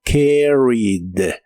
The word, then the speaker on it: carried: Es un verbo regular, así que termina con ed, y en este caso tampoco se pronuncia esta E, solo la D del final, como carried. Carried.